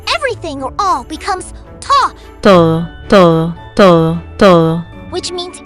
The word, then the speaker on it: todo: which means everything or all becomes ta, Todo, todo, todo, todo.